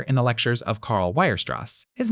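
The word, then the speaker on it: Weierstrass: a generation later in the lectures of Carl Wirst. His name is pronounced V Werross.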